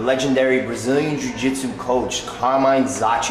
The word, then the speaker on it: Zocchi: I'm here with the legendary Brazilian Jiu-Jitsu coach, Carmine Zocchi. Am I pronouncing it correct, Carmine? Yes, Carmine Zocchi is right.